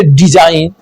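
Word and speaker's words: design: एन से पहले आने वाला जी साइलेंट होता है, जैसे डिजाइन, साइन, रिजाइन।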